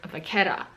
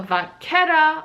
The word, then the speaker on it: vachetta: And the second person that commented about French pronunciation or French words was about the word vachetta.